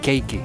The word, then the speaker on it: cakey: Aquí se pronunciaría cakey.